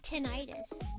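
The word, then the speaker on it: tinnitus: Tenonitis. Maybe it's just everywhere. Tenitis. Tin. 10. 10 is correct. Yeah, the ringy ear thing. Tin itis.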